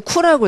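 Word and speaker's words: coup: 이거는 쿠라고 읽어요. 쿠. P 발음을 하지 않아요.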